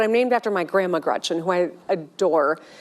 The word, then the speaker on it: Gretch: named after my grandma Gretchen who I adore. It's funny though because she always said never let anyone shorten your name. Don't let people call you Gretch because it rhymes with wretch.